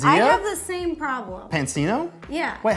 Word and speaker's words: Pansino: show I've been on there like Rosanna pansino and I should know where the emphasis goes on the second syllable basic padula they do